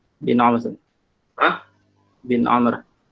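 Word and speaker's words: عمرو: Bin Amr. Hah? Bin Amr. Nah, kenapa Amr? Karena di situ wawunya untuk membedakan dengan Umar.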